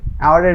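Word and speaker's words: hour: আরো কিছু দেখেন, যেমন এন আওয়ার, এখানে কিন্তু এইচ উচ্চারণ হয় নাই।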